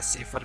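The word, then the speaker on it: Sauer: Cultural reason Carlo सावर ने, कई बार इसका प्रोनाउंसिएशन सावर भी हो जाता है, सेफर भी हो जाता है, तो आप इसको अपने अकॉर्डिंग इसको बोल सकते हैं, आपको मतलब याद करने से है।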